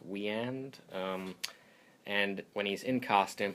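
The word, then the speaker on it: Wieand: And, Roy Burns, when he's out of the costume, is played by Dick, I think his last name is pronounced Weand.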